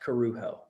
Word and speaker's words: Corujo: But it's pronounced Corujo. Corujo. I wonder. Perfect. Yep. All right, cool. So it's not Cujo, it's not Corujo, it's Corujo.